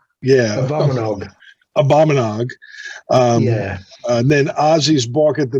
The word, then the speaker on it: Abominog: How do you pronounce that? Abominog. Yeah. Abominog.